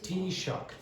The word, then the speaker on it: Taoiseach: The pronunciation is Taoiseach. And who is the Taoiseach?